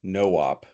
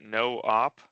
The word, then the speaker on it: noop: Is it no op? No, it's noop. It's no operation.